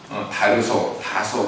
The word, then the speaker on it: 다소: 본래 사도 바울은요, 아시아 지방의 다소라는 곳에서 다소 그렇게 발음합니다. 부유한 집안의 아들로 태어났습니다.